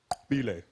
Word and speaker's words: Bile: The guy goes, my name is pronounced Bile. He had a click in his name.